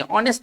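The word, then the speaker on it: honest: 27 सवाल क्या है 27 सवाल कैसे पढ़ेंगे ऑनेस्ट ऐसे लिखेंगे तो भले यह कहानी के लिए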